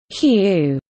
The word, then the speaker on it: HU: of Prayer includes singing the word whoo which is pronounced as hue a holy name of